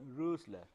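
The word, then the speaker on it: Rössler: This is O with a umlaut, it is a German thing with pronunciation Rösler. You will make the lips as if you are trying to speak O, but you will actually try to speak A. So, whatever comes out of your mouth that is the Ö.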